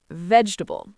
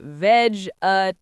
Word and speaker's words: vegetable: Vegetable. People say vegetable. Four syllables. Nope. Native speakers say vegetable. Three syllables.